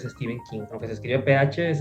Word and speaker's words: Stephen King: Eh, bueno, quiero aclarar eso porque mi parte también como que ahí mi vocecita me dice, "La gente suele llamar Stephen King, pero realmente es Steven King, aunque se escribe PH es Steven King."